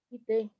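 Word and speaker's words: 来て: Ah, Hay un error de pronunciación. Kite. Kite. Kite.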